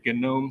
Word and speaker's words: GNOME: start with G and the cool kids pronounce that g with a hard G so this is not a gnome system it is a gnome system and uh that